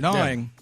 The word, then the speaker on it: gnawing: two two biggest concerns spelled with a G too which doesn't help my two biggest gnawing